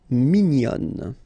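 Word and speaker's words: mignonne: And then another example min will become minion. Okay. Same thing here. Nazal min. And then when you put the feminine form minion.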